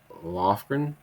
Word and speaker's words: Lofgren: This is a Democrat out of California by Zoe Lofgren. Am I pronouncing that right?